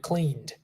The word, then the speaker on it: cleaned: this is the final sound of the word cleaned the past of clean is cleaned and you're